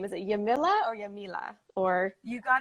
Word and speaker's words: Yamila: in the meantime welcome welcome um and also pronouncing your name is it yamila or yamila or you got it the first time you can say that yamila okay perfect of course yes no not